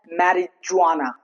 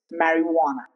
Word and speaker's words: marijuana: It's not marijuana, it's marijuana.